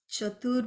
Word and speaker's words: chatur: will go to the seventh name om shreem chathur baahu the c here is pronounced as sha a c h in sanskrit